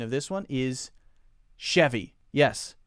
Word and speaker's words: Chevy: of this one is Chevy yes most people will call it a Chevy not a chavvy and it looks like